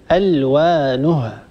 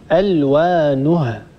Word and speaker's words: ألوانها: وقفت على كلمة ألوانها ننتبه إلى الهاء، لابد أن نعطي الهاء حقها، ومن صفات الهاء هي صفة الهمس، ألوانها هكذا لابد أن يجري الهواء، ولا نقول ألوانه ونبتر الهاء ولا ننطق الهاء كاملة ولا نعطي الهاء حقها صفة ومستحقا.